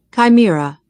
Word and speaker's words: chimera: And it's pronounced chimera. Chimera. Chimera. That's chimera. Chimera.